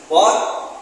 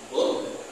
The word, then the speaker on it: bot: Book. No, Mr. Carlyle. It is bot, like that.